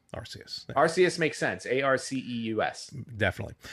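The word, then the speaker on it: Arceus: at their uh podcast device probably as I mispronounced archus AR I don't I don't I'm already I'm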